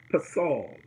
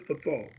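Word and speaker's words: פֶּסֶל: And the Hebrew word is pasal. Pasal is the word, pasal. But it's spelled P-E-S-E-L. P-E-S-E-L. The word is pasal.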